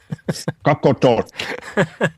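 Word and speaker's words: Qaqortoq: city here called coot say it once more coot talk thank you very much for that now the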